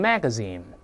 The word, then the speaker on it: magazine: 你像那个这个杂志 magazine，但美音往往读成 magazine，就这么一个特征啊。